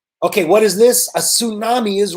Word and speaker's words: tsunami: And of course, tsunamis are big waves caused by underwater earthquakes. And that is the end of the slideshow, guys. That is correct. Catherine is right. The T in tsunami is silent.